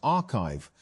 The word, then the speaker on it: arXiv: Although papers are posted to the site before they are peer-reviewed, arXiv, pronounced archive, has become one of